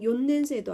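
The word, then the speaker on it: 四年生: 시넨세도 아니고 요넨세도 아니죠. 특이하게 요넨세라고 요만 집어넣어 줍니다.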